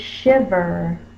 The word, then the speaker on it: shiver: The next digraph word is shiver. Shiv. The closed syllable, the vowel is short.